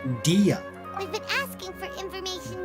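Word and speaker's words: Dehya: And actually, I saw in a trailer or something that her name is pronounced Dia.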